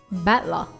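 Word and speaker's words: 戦人: So it's made up of the characters for fight and person, and it's pronounced battler.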